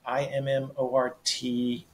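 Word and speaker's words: Immortalité: Immortality, Immortalite. It's a French pronunciation of immortality.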